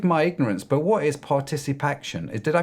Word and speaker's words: ParticipACTION: Forgive my ignorance, but what is Particip Action? Did I pronounce that right, or did I butcher it?